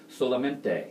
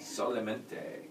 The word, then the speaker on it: Solamente: And how do you pronounce it? Solamente. Solamente.